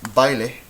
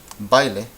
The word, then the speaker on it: baile: We have baile and caída. Baile, caída. Well, this, we can see the diphthong right here. The a and the e together make bai, baile. 2 syllables, right?